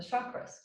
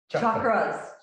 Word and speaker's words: chakras: interview you about the chakras chakras chakras chakras it's not like chicago well um i was